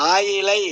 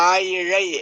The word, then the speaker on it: ஆயிழை: ழ தோன்றும் நீங்க இப்ப நம்ம ஆயிலை அப்படின்னு எல்லாருமே படிக்கிறாங்க ஆனா உச்சரிக்கிறது ஆயி இழை அப்படின்னு உச்சரிக்கணும் இந்த ஆயிழைங்கிறதுக்கு என்ன பொருள்னா